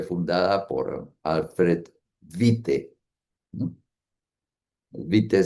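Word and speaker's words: Witte: Vite se en alemán se escribe W I TTE, eh, quien falleció en 1941.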